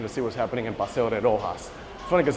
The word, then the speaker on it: Paseo de Roxas: see what's happening in Paseo de Roxas. Funny cuz they write it with an X, but they pronounce it like if it's for for J, Roxas.